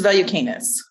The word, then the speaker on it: Valiukenas: It's Valiukenas. Valiukenas.